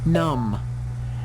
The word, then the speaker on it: numb: next one this M num yeah the word enum as well the B is silent in here to be letter at